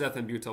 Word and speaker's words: ethambutol: Pronounce ethambutol. Okay. Who decided Who decided that? Oh, because that's It is ethambutol, but they're saying it It causes optic neuropathies as an adverse effect.